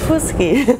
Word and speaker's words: Fuschi: reality life is a dream right but you pronounce my name so well miss whiskey perfect I'm just so happy to see you asked me before you said what is the origin of that name because FUS key is course sounds Italian Queen only I see